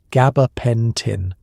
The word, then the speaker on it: gabapentin: You watch as they gently repeat the correct pronunciation, gaba, pen, tin, in the same tone